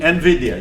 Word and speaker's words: NVIDIA: I'm not sure how to pronounce it. Is it NVIDIA or NVIDIA? NVIDIA, yes.